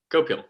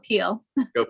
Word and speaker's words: Goel: go to representative go gopel I'm so sorry if I mispronounced your name representative that's sorry it's goal goel thank you a lot